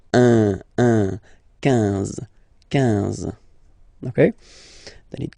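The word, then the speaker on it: onze: then 11, 11, okay, so O plus N give you the sound on, 11, 11, okay, final E doesn't exist phonetically, 11, okay, 12, 12.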